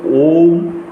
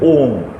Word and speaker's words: ওঁ: ব্রহ্মার একক বীজ মন্ত্র ওম উচ্চারণটা দুই রকম হয় একটা হচ্ছে ওম অ হস ম আর এটি হচ্ছে ওম কেবলমাত্র ওম ব্রহ্মার একক বীজ মন্ত্র